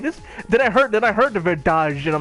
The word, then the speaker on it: verdade: But she said verdade. But they still spell it the same way in Portuguese. But the D becomes a J, and I'm just like, what?